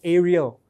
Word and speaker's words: Ariel: I said, "Hear, O Ariel," it rhymes with Israel on purpose, "the Lord your God, the Lord is one.